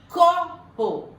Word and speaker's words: copo: Copo, qual que é a sílaba tônica? É o có. Ela é, então, ó, se fosse o pó, ela é oxítona, mas ela é có. Esqueci do acento. É o có, ela é paroxítona.